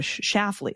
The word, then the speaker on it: Schlafly: propaganda quite well, and pronounce her married surname Schlafly with a Schlafly, like a short A, Schlafly, in the first syllable. Schaff like gaff.